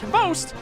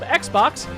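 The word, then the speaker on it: XBOCT: Xbox, which is somehow pronounced Host, or as I like to call him, Xbox, has been the founding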